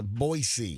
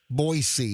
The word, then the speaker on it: Boise: Boisey. Yeah. Boisey is in Idaho. If you got a three-day trip to Boise, Idaho. No, no, no. Don't say Boise. Boisey. They're really particular how you say it.